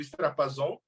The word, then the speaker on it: Strapazon: Cara, falou meu nome certo! Obrigado. Eu não aguentei. Falam tantas pronúncias. Desculpa. Pra mim, nem deu pra entender. Estourou a caixa de som aí, não ouvi nada. Eu queria entender. Ele falou que você pronunciou o nome dele correto, Strapazon.